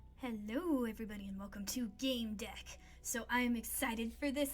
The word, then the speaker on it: Gamedec: in i wanna start it's a strange profession game deck oh good i pronounced it right you're neither a player nor